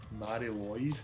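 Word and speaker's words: Mari Lwyd: Mary Lloyd. The Mary Lloyd Christmas, I think that's how you pronounce it. There's only one L, so it's Lloyd.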